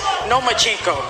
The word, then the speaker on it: Lomachenko: I think you said his name wrong. It's Lomachenko because he doesn't want to fight me.